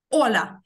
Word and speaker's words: hola: Буква А, аче німа. Вона не читається. Вона не читається. Запам'ятали, що як тільки ви бачите букву аче на початку слова, тобто не в сполуці, оце, як я вам казала, сі, це і аче. Це звук ч. Якщо ви просто бачите букву аче, вона німа. Вона взагалі не читається.